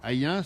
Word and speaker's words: Ayn: Hayen, ça s'écrit A-Y-N, et dans l'émission vous verrez Roger, qui est ancien maire adjoint.